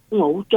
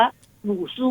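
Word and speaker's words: 五祖: นั้น ก็ จะ มี ชื่อ เรียก รวม กัน ว่า โง โจ๊ นะ คะ เอ่อ จิน กลาง จะ ออก เสียง ว่า หมู่ สู้ นะ คะ แปล ว่า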